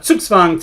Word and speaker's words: Zugzwang: when you see z-u-g-z-w-a-n-g think of the w as being from wagner and think of the z's as being ts's and now you get